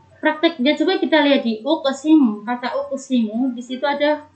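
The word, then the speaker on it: أُقْسِمُ: Prakteknya coba kita lihat di uqsimu. Kata uqsimu di situ ada qaf sukun, tapi dia berada di tengah-tengah kalimat. Berarti dia dihukumi dengan qalqalah sugro. Cara membacanya yaitu dengan memantul ringan saja.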